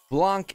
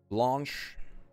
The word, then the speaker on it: Blanc: Blanc is not correct pronunciation, but good try. Blanc. What is it then? Blanche. That's something like a sh sound in the end.